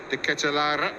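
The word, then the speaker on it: De Ketelaere: This time, it was on Charles De Ketelara, who I went online and heard him pronounce that himself. So I promise you that is the way he says his name.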